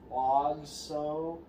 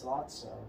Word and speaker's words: Lotso: Did I pronounce his name right? Logso. It's Lotso.